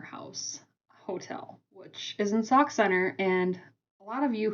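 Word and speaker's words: Sauk Centre: So, let me tell you, it's sock center. Okay? Sock like what you put on your feet. Center like the center of a circle. That's how you pronounce that word.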